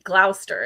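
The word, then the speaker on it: Gloucester: Joining from is that is now I don't think we pronounce that the way the British would, which would be Glouster. Is it Glowchester, Massachusetts?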